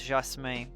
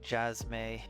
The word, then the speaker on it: Jasme: my real name is jasme um if you try to pronounce it in English I guess it'd be like jasmay or something but uh and so